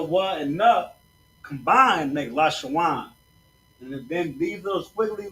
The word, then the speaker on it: Lashawan: So it's Lashawan. You see that? La, sha, wa, and na, but it's Lashawan.